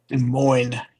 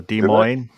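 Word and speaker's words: Des Moines: De Moine, you don't pronounce the S. And like Illinois. So De Moine.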